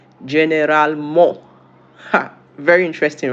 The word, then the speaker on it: généralement: In French, how is it pronounced? Généralement.